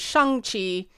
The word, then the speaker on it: Shang-Chi: Because the correct pronunciation is Shang-Chi and the Ten Rings, as best as my Canadian accent can manage. But people are saying Shang-Chi. I'm going to go with Shang-Chi, which is closer.